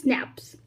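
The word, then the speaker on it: SNPs: इसको हम बोलते हैं स्नैप्स, single nucleotide polymorphism, pronounce स्नैप्स occur in the human.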